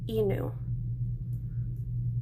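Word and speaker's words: 犬: And in romaji, that's how we pronounce dog, is inu.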